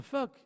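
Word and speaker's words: phoque: Because un fuck is a seal. That's how you say it in French.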